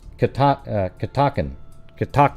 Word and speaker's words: Catoctin: Pronounce. Yeah. What's rude is you interrupting the show. Yeah, it's Catoctin, just like I said.